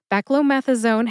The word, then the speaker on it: beclomethasone: Beckomethazone has five syllables. Be like the name Becky. Clo like a fourleaf clover. Meth like methane. Uh which is a short a sound or awah a sound. It sounds like uh and zone which sounds very similar to the word zone as in zone defense in basketball.